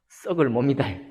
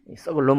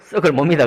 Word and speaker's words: 썩을 몸: 발음이 좀 정확해야 되는데요. 썩을 몸이다. 썩을 놈 아니고 썩을 몸이다 그랬습니다.